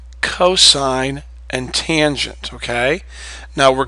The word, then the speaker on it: cosine: looks like sin and cost it's not you pronounce this sign long I you pronounce this cosine you don't say just Co it's cosine and this is tangent